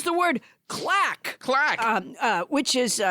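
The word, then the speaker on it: claque: It's the word clack. Clack. Which is spelled C-L-A-Q-U-E.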